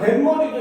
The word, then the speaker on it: 뱃머리: 그 다음 뱃머리도 역시 마찬가지. 배와 머리가 합쳐졌더니 발음하니까 뱃머리 이렇게 되는 거야.